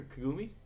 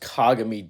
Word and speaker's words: Kagami: beginning to end uh kagami or kagame or kagumi kagami kagumi it's pronounced kagami dumbass kagami kagami is a dude from kuroko